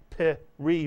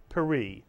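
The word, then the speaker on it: פרי: word is paris mitsuyon it's not pe re but paris a one syllable word and if you add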